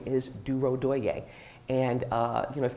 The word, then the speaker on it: Durodoye: for example my name my last name is duro doye and uh you know if you don't see